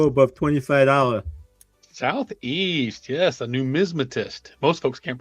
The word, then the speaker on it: numismatist: Yes, a numismatist. Most folks can't pronounce it correctly either.